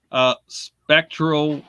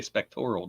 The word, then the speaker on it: spectral: Spectral researchers. How you doing, Deb? See, I said it right that time. I didn't say spectoral, did I?